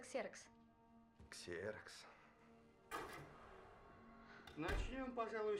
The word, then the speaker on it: Ксерокс: О, это греческий. Произносится ксерокс.